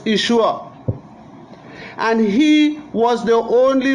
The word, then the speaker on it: Yeshua: They changed the I and they put the J and they pronounce it Joshua. His correct name was Yeshua.